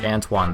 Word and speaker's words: Anton: never changed it back everyone still pronounces his name as antoan though which is what it was supposed to be number nine Jonathan Simmons